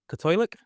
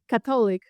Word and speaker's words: Katolik: Cylic. Catholic.